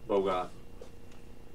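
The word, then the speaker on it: Bogut: is Lynn Russell and bogu he's pronounced bogot Wilson Chandler 14 of 99.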